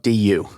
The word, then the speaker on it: du: Do is spelled du. Du. Yeah. It's helpful to think that because otherwise it sounds like doo when you're saying it and it can get confusing in a sentence.